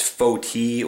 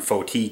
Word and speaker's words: foti: You will oftentimes hear of it, especially in the West, referred to as foti or foti, and that's spelled F-O-T-I.